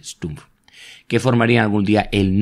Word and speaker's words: Stumpf: Esos oficiales serían Sperler, Weber, Kesselring y Stumpf, siempre se olvida que en alemán se pronuncia así, Stumpf, que formarían algún día el núcleo de los mandos del Luftwaffe.